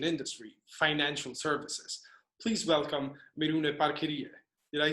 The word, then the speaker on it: Miruna Parchirie: Please welcome Miruna Parchirie.